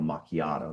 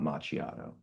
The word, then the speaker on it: macchiato: I will say like by the way it is pronounced Carl Macchiato, not machiato.